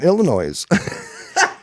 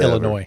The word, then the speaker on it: Illinois: located in Illinois. There is no S. You don't pronounce the S at the end Whatever. of Illinois.